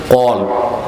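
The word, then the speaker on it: قلب: অনেক বক্তাকেও শুনছি উচ্চারণটা ঠিক করে না, বলে কালব। কালব অর্থ কুত্তা, আর কলব অর্থ।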